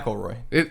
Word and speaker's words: McElroy: McElroy. MCL McElroy. Roy. Mick. That's how you say it.